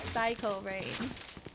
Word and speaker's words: Sycorain: Alright, so looking at chat over here, Coop Too Good said Sycorain's name is actually pronounced Psycho Rain.